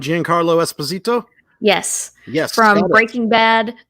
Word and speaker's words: Giancarlo Esposito: that's games now it's the trailer has I'm pronouncing his name right Giancarlo Esposito yes yes from Breaking Bad better call Saul